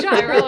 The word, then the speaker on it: Gyro Captain: Do you mean euro captain? Whatever. I don't know. I don't know how it's pronounced. I'm going to call him captain. It's definitely gyro in this case.